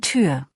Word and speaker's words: Tür: Ein Klassiker ist das Ü, form den Mund rund wie für U, aber sprich ein I. So kommt Ü raus, wie in Tür.